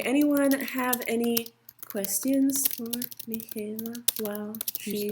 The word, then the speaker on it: Michaela: So, it's Michaela like with a K. Yeah, but it's spelled like with the H.